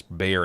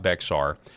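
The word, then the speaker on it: Bexar: That's pronounced it's Bayer in Texas, not Beexar.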